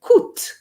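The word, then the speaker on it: coûte: and you now if ku has an e after the t you're going to say kut okay because of the e but because there's no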